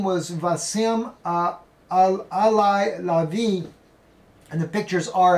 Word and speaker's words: Wissam: They pronounce it Wissam because I'm getting it in a little bit different.